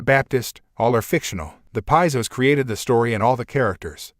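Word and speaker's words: Piso: Christianity where all the creation of the calpurnis Piezo pronounced peso family who were Roman aristocrats the New Testament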